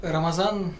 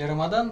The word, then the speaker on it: Рамадан: То есть как бы даже само различия в произношении это всё основывается на грамматике арабского языка в арабском есть буквы которые называются эмфатический произносится ближе к язычковая соответственно его произносит или Рамадан или Рамазан как сложилось вот в